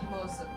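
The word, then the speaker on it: Moze: Is it Mose? Is that how you pronounce his name? Moza? Moza, yeah. Almost like sounds like you're trying to say Moses, but not.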